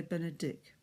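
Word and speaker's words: Benedictus: People sometimes say Benedict, but it's a long I sound, I vowel, so Benedict.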